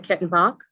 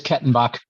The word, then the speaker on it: Kettenbach: Did I pronounce that correctly? Is it Kettenbach? That's correct? Yes. Thank you. Give me a thumbs up. I'm apparently unmute challenged. Yes, it is Kettenbach.